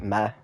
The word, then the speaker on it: mayor: supposed to be mayor we just pronounce it me like the female horse or the F GI for Jesus but he didn't leave